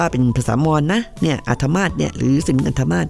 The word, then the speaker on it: อาทมาฏ: อา ทมาต นะ คะ สะกด อ่าง เนื้อ สอา แถว ทหาร มอ ม้า สระ อา ต่อ ปฏัติ อาทมาฏ นะ ไม่ เร็ว ๆ นี้